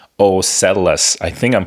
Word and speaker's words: OCELLUS: So this new product is called OCELLUS. I think I'm pronouncing it right. OCELLUS.